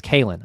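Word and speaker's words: Kaelen: Look at this Keelan Culpepper. I believe it's Kalen. I saw a YouTube comment. I believe it's Kalen. I'm sorry if I've been mispronouncing that.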